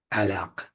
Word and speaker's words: علق: Pronounce it to yourself. Alaq. And let it go to the back of the throat, that Q sound.